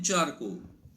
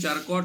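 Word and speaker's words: Charcot: के 187 gene Martin चार को स्पेलिंग चारकोट है लेकिन उच्चार चार को है जीन मार्टन चार को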